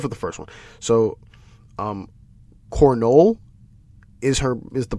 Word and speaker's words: Cornolle: So, Cornolle is the pronunciation.